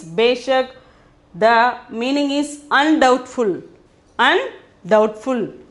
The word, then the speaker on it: बेशक: The 10th one is beshak. The pronunciation is beshak.